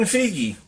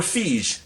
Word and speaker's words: Feige: But other stuff like speaking of that, like Kevin Feige or Feige, that's how I like to pronounce it.